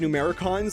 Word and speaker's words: Numbericons: or however you say it but it's definitely pronounced numeric cons like they definitely say it a million times